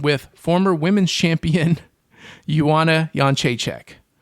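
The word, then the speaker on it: Jędrzejczyk: women's champion Yuana Yonchek or as I like to call her Jana uh Joanna Jezdrech because of how her name is spelled. I don't know how that's supposed to be Yonchek because none of those, you know, syllables coming out of my mouth match any of the letters that are in her name. But that's Polish names for you.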